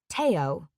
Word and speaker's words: Theo: She says Theo's name differently. Teao. Not Theo like everyone else has been saying. Even he himself pronounced it Theo.